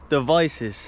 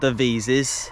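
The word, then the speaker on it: Devizes: I called my dad and he said, "Oh, it's called Devices. That's how it's pronounced." Not the visas.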